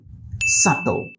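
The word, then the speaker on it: subtle: ফেললাম এটার প্রোনাউন্সিয়েশন কি হবে সাবল নাও এটার প্রোনাউন্সিয়েশন হচ্ছে সাত সাত আই মিন এই ওয়ার্ডটার বি সাইলেন্ট হয়ে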